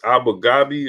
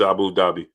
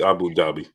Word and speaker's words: Abu Dhabi: uh what what was it how do you pronounce it aina's um dubai yeah but it's abu ghabi or something like that abu babu something i